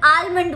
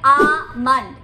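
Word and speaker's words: almond: Number one, इसको तो आप जानते होंगे, इसे बादाम बोलते हैं हिंदी में, लेकिन इंग्लिश में इसे लोग अक्सर आलमंड बोलते हैं। ये गलत प्रोनाउंसिएशन है, इसका सही प्रोनाउंसिएशन है आमंड, आमंड।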